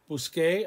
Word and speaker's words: busqué: So we have to change the C to a Q-U to maintain that hard C sound.